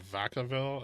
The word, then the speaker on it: Vacaville: This city in California called Vacaville. I've been there. Quaint combination of Spanish and French words that's pronounced like neither, which I would offer as the name for Bullatory.